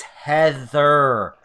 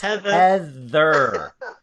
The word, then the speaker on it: Heather: if you're watching it's Heather not either our here it's Heather rhymes with leather just for you guys yeah you have a